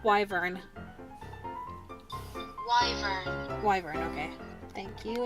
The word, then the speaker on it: wyvern: I learned how to ride my wyvern when I was 5. Fuck. Hold on. How to pronounce wyvern?